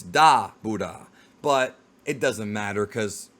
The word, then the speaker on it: Dabura: it makes sense and it makes more sense in Japanese just because of the pronunciation of his name it's not dor you don't enunciate the Buu it's da buha but it doesn't matter